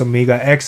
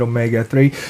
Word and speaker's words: OMEGA X: mispronounced their name when it's supposed to be pronounced Omega X. Instead, they pronounced it Omega 3.